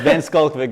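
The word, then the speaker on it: van Schalkwyk: everybody would prefer that because most people can't pronounce it. It's Van Skulkvik, guys, and it's Van Skulkvik.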